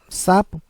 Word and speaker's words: sapo: Por isso que sapo, que é uma paroxítona, sapo, né, sílaba mais tônica, a sílaba mais forte é o sa, é uma paroxítona terminada em o, por isso que não é acentuado.